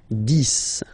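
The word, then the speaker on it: dix: So remember, final X here is pronounced like S, 10, 10, okay?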